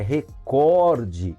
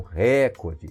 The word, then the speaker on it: recorde: É recorde e não recorde, tudo bem?